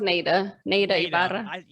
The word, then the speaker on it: Neida Ibarra: So it's pronounced Neida Ibarra.